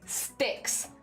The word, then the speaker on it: Sticks: Is it Stinks? Because I feel like I might be mispronouncing that. Stinks. Like... Sticks. Thank you, Blapple. Thank you. Sorry. My bad. Not Stinks.